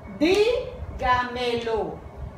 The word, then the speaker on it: dígamelo: Se les marca tilde en la trasantepenúltima sílaba. Se acentúan siempre. Dígamelo.